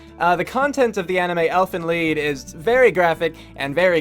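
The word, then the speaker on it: Elfen Lied: lead so next time say like it rhymes with deed or something anyway just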